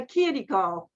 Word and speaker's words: Chirico: Calandra Institute, its dean, Anthony Tamburi, told me immediately that my name was Chirico, which is the correct pronunciation in Italian.